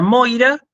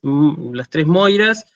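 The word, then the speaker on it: Μοῖρα: Después tenemos el diptongo oi, que se pronuncia así, hoy. Entonces tenemos la palabra, como ya lo vimos la clase pasada, tenemos la palabra Moira, ¿sí?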